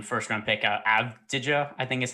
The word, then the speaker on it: Avdija: One note I did see is that Denny, and I'm so bad at pronouncing his last name, first round pick, Avdija, I think is how it's pronounced.